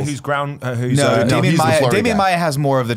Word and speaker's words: Maia: Who's No, Damian Maia Maia has more of the traditional jiu-jitsu body where he's like a little lengthier.